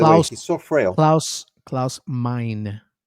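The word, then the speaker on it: Klaus Meine: Claus mine. Well, he's he's German. Claus mine. That's that's how you say it in German. But close mine in English.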